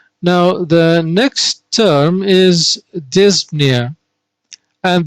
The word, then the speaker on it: dyspnea: the next term is dyspnea and the p here in dyspnea is a little bit soft we do not say this paneer this dyspnea as soft as possible